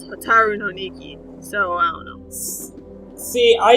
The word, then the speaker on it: Hotaru no Nikki: And then what's confusing, and I mentioned this to Brian, is the uh T O is a T A in Hiragana. So it's spelled hotol no ni-que, it's hotaru no nikki.So i dunno.